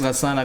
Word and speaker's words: Gassan: Can you just say Gassan so people can know how to pronounce it? It's not everybody speaks Gassan Arabic.